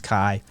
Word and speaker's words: Kai: as close as i'm gonna get for that pronunciation um yeah uh zara my name is kai k-a-i it's my name um feel free to